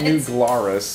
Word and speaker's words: New Glarus: So yeah, I'm going to call New Glarus and ask them how they say it.